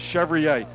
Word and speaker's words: Chevrier: His father come up to me the night before the game. I said, hey, I got a question for you. How is your name pronounced? He says Chevrier. That's the way it's going to be.